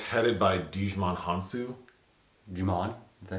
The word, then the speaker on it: Djimon: Djimon? Is that how you say it? I thought it was Djimon.